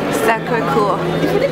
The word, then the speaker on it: Sacré-Cœur: Excusez-moi, how do you pronounce the name of this building? Sacré-Cœur.